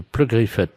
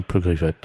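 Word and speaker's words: Pleugriffet: Oui, de Pleu-Griffette. Alors, P-R... Comme ça se prononce, hein, Pleu-Griffette.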